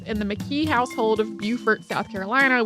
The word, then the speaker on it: Beaufort: He was enslaved from birth in the McKee household of Beaufort, South Carolina, which is pronounced differently from Beaufort, North Carolina, even though they are both named after the same person.